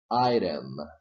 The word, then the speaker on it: item: this is not stressed so condition number one and condition number two are met therefore you can say item with flap T now the next one